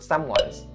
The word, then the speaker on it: someone's: For the pronunciation, you don't have to be worried too much about the word someone's.